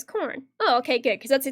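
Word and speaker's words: Khorne: Sam says the chaos god of gore, and Foyton is corn, pronounced as corn.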